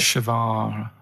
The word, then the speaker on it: Che Guevara: Che is like shake. And his his surname is like guitar. Right. Che Guevara.